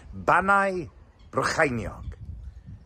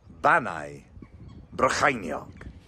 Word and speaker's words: Bannau Brycheiniog: Banna Brecconiog. That sounds quite good. Let's cross to our Welsh correspondent. The correct pronunciation is Banna Brycheiniog. Bannau Brycheiniog.